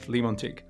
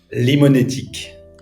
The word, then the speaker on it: Limonetic: Did I pronounce this right? Is it Limontic? Limonetic. Limonetic and Antelope.